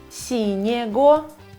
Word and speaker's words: синего: Например, ЕГО мы будем читать, произносить как его. Синего нет, это плохо.